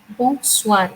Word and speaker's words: bonsoir: Bonsoir. It has a nasal sound again. Whenever there is a bon, because bon in French means good.